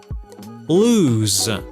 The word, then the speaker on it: lose: تلفظ loose lose z lose.